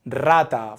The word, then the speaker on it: rata: when we have an r at the beginning of a word or when it's doubled in the middle of a word or when the r is placed after n l or S here are some examples rata for rat Caro for car Sona for smile so